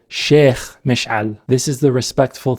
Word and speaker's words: sheikh: She says sheik. That's how Westerners say the word, likely because the kha sound can be tough. In Arabic, it's pronounced sheikh.